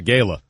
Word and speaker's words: gala: all day today is orchestrating and organizing this gala this fantasy whatever the gala what it's a gala yeah we pronounce it with a heart a that's a fun this gala that he is doing on Sunday he keeps